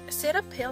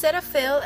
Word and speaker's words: Cetaphil: I'm going to start with my setup setup setup pill how you pronounce it but anyway it's Cetaphil and it says um gentle skin cleanser for